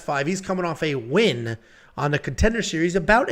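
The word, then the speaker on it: Nguyen: do you say yeah it's not nean it's just win I don't say nguan I say just win yeah it's just win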